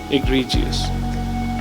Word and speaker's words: egregious: Remember this word, egregious. I think there is a pronunciation here, egregious. That's how you pronounce it.